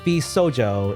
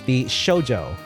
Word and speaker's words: VShojo: It is not VSojo, it is VShojo.